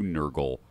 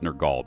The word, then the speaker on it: Nergal: And hence we come to Nurgle worship, or Nergal worship. I'll try to pronounce it Nergal because I don't want it confused with the smelly guy from 40K.